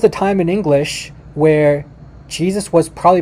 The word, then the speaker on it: Jesus: turn into german so in german though the the the j is actually a y so jesus okay in german this is how you pronounce it uses uh well maybe not identical pronunciation but i'm trying so so you have like the the y and it's it's it's a y sound and then in english